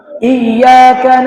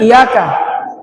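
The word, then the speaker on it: إياك: Jadi huruf iya di sini ada tasdidnya. Jadi cara bacanya agak ditekan bukan iyaka tapi iyaka. Iyaka bukan iyaka.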